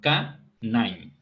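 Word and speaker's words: KNIME: Esta herramienta se llama K9. Bien, se escribe K-Nime.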